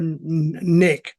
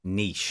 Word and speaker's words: niche: Is it niche or nick? Niche.